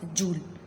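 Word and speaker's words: joule: जूल या जॉल भी कह सकते हैं, डिफरेंट प्रोनाउंसिएशन है इसकी।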